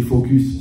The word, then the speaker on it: focus: Mais si toi, tu ne regardes que le problème, tu es focus, ce qu'on appelle, mais avec le S, il faut bien prononcer, d'accord?